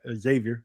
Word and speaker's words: Xavier: Xavier, sorry, I I pronounce it like I'm from uh the South.